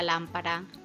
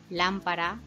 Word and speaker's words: lámpara: llevan tilde las palabras las palabras esdrújulas son las que tienen su sílaba tónica en la antepenúltima sílaba estas palabras llevan tilde siempre por ejemplo la palabra lámpara lámpara es una palabra esdrújula y por lo tanto lleva tilde también van a llevar